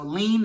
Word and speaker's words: lien: So lien is spelled L-I-E-N. When you think of lien, and it's spelled L-I-E-N, it looks like lie, L-I-E. And when I think about that, I say, okay, lie-N.